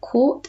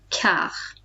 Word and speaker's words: quart: So this is not quart, it's quart. Okay. Because the T is silent on the end, and we treat QI like a K.